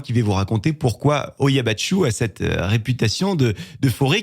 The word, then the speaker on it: Hoia Baciu: Une forêt qui a pour nom Hoia Baciu. Voilà pour la prononciation officielle.